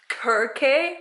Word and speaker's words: Circe: Greek Greek mythology and it turns out that it's pronounced curve K Kirk a wah like what I don't even I don't like that I don't know I like that pronunciation I'm I'm just gonna